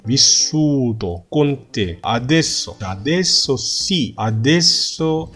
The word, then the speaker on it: vissuto: 자, vissuto 또 아닙니다. T 2개 아니고요. vissu, S 2개죠. vissuto con te.